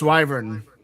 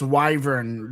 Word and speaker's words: Wyvern: Oh, it's Wyvern. How do you pronounce it? It if you're talking about the base from Dead Eagle, it's Wyvern. Wy V R. Wyvern Wyvern, if you're listening, Dead Ego, there it is.